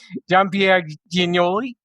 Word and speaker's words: Jean Pierre Giagnoli: His name is John Pierre Ginoli.